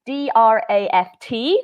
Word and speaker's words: draught: so in America it's dr aft the first in the UK it's dr a you ght but the pronunciation is the same draft draft beer and